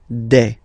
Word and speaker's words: des: All right, here s you pronounce it like e. Okay, un, une, des.